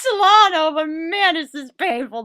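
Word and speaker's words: Celaeno: Upon editing this, I've already seen the movie, so I now know that her name is not Captain Cilantro, it's Captain Solano.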